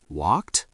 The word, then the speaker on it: walked: Pronunciation tip. Walked. T- sound.